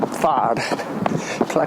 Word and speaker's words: Pla: called PL pla Del pla is the valenciano pronunciation and spelling of player this region of Spain